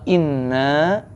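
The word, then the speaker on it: إنّا: ke 1497 hai wa inna ilaihi rojiun nah lamunqalibun yang pertama wa artinya dan Inna agak panjang bacanya Nah itu dua kata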